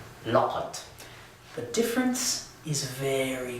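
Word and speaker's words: لقد: the whole thing looks like this, and it's pronounced لَقَد.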